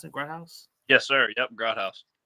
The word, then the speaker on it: Grodhaus: devonport safety cam Grouse is that how you pronounce it gr house yes sir yep gr house oh yeah how's